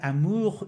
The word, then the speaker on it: amour: for example, l'amour, I know that amour is very nasal sound. It is not amour, it is amour in natural Yeah.